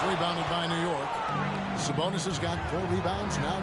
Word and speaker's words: Sabonis: Curry has it in the tournament I do pronounce that now sabonis he's got five who's McDaniel down low here's